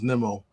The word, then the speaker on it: Nimmo: I used to call him Nemo, but his actual pronunciation is Nemo.